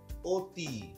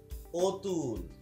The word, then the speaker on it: অতি: যেমন আমরা অকে সবসময় অ বলছি না, যেমন আমরা এখানে দেখতে পাচ্ছি অকে কি বলছি? অতি, অতুল, মন, এরকম বলছি।